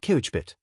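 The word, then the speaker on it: COBIT: The frameworks of the trade are NIST, ARF, ISO270001, fair and cobbit pronounced kuchbit and the certifications to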